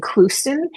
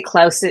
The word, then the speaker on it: Clouston: her the last name Clouston. It's Clouston, kind of thank you. funny. Yeah, a lot of people say Clouston. It's hard to know how to. It looks different than it sounds.